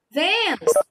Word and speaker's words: Vênus: Mesma coisa, Vênus. Vênus, Vênus, Vênus. O V saiu também mais prolongado o som. Então, é a sílaba mais forte desta palavra, certo?